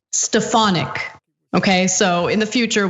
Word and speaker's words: Stefanik: country ohay okay um quick correction because neither one of us knew the correct pronunciation of uh This Woman's name but our uh trusty programming director Judith wrote in and it's stefanic okay so in the